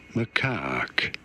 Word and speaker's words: macaque: Macaque. You do want to stress on the second syllable, on the caque syllable.